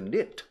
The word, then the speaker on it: knit: Hacer punto is the knit. Knitting, no? Knitting. Tejer. Bueno, hacer punto. You have to make a sweater. Un jersey, un pullover. You knit. K-N-I-T. Kamuda. N-I-T. Con kamuda delante.